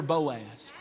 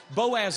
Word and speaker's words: Boaz: Ruth waited for her Boaz.